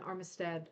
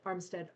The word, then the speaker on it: Armstead: Neither she nor her husband Armistad. Armstead R. So, um, isn't that weird? I said Armistad. I'm thinking of like the boat, right? But it's it's spelled differently, too.